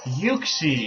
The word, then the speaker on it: Uxie: Uxie, yeah, that's how you say it.